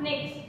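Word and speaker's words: Pnyx: थी जिसका नाम था निक्स। निक्स, पी साइलेंट है, पी एन वाई एक्स, निक्स नाम की एक हिल थी।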